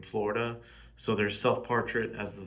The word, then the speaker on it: Florida: Self-portrait as the I in Florida and then self-portrait as the duh in Florida, which is how you know native Floridaidians pronounce the da part of Florida.